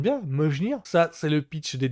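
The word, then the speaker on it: Mjölnir: Je crois que c'est le fameux Mjolnir. Je prononce bien, Mjolnir.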